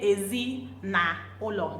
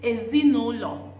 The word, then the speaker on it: ezinụlọ: But when you're saying it, you don't say ezi na ụlọ. No, you say ezinụlọ.